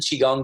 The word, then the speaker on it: Qigong: hardest part of this practice is how to spell it it's qi g ong qi g l ng calm so holdin chi gong calm and on there there's a 30 day